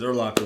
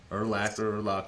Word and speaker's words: Urlacher: I mean, because Urlacher was just so dominant for so long. Maybe you could say his name right. Urlacher. It's Urlacher? I thought it was Urlacher. Urlacher. It's not Locker.